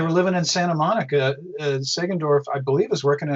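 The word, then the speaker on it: Sagendorf: Bud Sangroff, the guy who took over for him? Segendorf. Segendorf actually.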